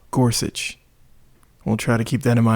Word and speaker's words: Gorsuch: that new guy oh gorgia whatever whatever G I'll insert something here rker here for another Corrections his name is pronounced Neil Gorsuch we'll try to keep